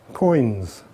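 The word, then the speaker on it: quoins: And the correct word for the edges is, go on, have a go at pronouncing that. Coins.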